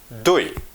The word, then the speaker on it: دوی: We pronounce it T H O I O. دوی.